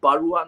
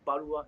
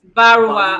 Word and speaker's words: Barua: It's called, Mention the correct pronunciation is Barua, not Barua. It's Barua.